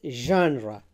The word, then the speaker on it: genre: pronounce it correctly, and they say it genre. It's not genre, it's genre, genre, it's genre, genre, genre. So the stress is on the first syllable, and then the sound is not ja, it is not za, it is ja.